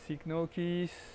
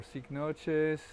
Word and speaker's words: Cycnoches: I'm in Fort Lauderdale and this is Sign Nokis or Sign Noes. There's two different pronunciations.